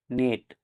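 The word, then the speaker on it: knit: মানে উচ্চারিত হবে না কে এন আইটি নিট মানে বনানু এখানেও কে লেটার দি সাইলেন্ট থাকবে কে এন ও ডাবলিউ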